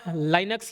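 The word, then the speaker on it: Linux: चलो, निम्न में से कौन सा लाइनक्स या लिनक्स, जैसा आप प्रोनाउंस करना चाहें, लिनक्स का मुख्य भाग है और सभी प्रमुख गतिविधियों के लिए जिम्मेदार है?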